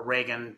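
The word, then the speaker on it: Ragan: second time now uh the I think it's Reagan is that how you pronounce it right right yeah the Reagan top women in Communications award and that that's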